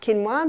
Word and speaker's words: quinoa: become familiar with it's spelled quinoa but it's pronounced quinoa the Aztecs love their quinoa Aussies are starting